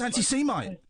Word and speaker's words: anti-Semite: I thought it anti yeah it's how he pronounces it no no no no it's anti Semite anti-semitic anti-semite no no no whoa hang on